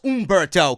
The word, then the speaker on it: Humberto: Humberto Carrillo, and I know it's Umberto, clowns, but I say it the way I want to say it because it's my fucking show.